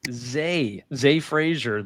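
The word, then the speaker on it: Zah Frazier: It is pronounced Z Frasier.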